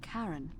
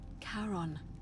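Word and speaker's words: Charon: is a little off the name you heard wasn't Karen it was c h a r o n yeah I knew it as in karon the Fairman of the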